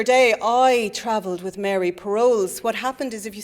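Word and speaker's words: Perolz: do you know um have you ever heard of Mary paroles and your woman says I don't think that's how you pronounce that p r o p e r o l z and I said oh no no it is so we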